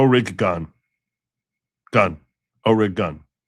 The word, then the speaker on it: Oregon: It's like gun with a hard O. Orig, not Jen. O rig gun. Gun. Orig gun. Yeah, that's it. O rig gun, not ogen.